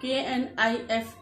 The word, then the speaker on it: knife: क्योंकि के के बाद N आया है, तो इसलिए यहाँ पे हम के को नहीं बोलते, नहीं प्रोनाउंस करते हैं, हम सिर्फ N को ही बोलते हैं। किसको बोलते हैं? N को ही बोलते हैं। क्यों? क्योंकि के बाद N आता है, और जहाँ पे के बाद N आता है वहां पे के साइलेंट हो जाता है।